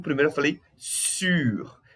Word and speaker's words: sur: Então, por isso que o primeiro eu falei sur. E o R é um pouquinho pronunciado, tá?